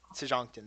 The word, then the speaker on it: Sejonkton: You had to travel here on your way from Sejonkton. Sejonkton. That's it. There's the pronunciation.